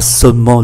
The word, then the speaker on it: seulement: Oui, mais alors le problème n'est pas seulement le prix. Seulement, ba âm tiết, chúng ta cũng chỉ phát âm là hai.